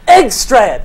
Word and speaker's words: Engstrand: And Aaron Engstrand, like England, but Engstrand.